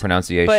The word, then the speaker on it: pronunciation: pronunci but it's weird because English sucks it's pronounced pronunciation it's pronunciation it's pronunciation yeah so even now